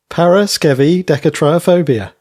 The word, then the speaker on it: Paraskevidekatriaphobia: We are in Series 8, Episode 3, Paraskevidekatriaphobia.